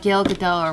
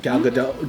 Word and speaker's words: Gal Gadot: Like if they try to kill like Gail Gadot or whatever. Right? That's how you say her name? Gal Gadot.